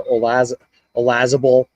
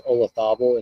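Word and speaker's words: Olazábal: Jose Maria Olazabal, which I thought it was Olazabal, and I keep hearing the Brits say Olazabal and all the Europeans say Olazabal, which I'm trying to wrap my fucking head around.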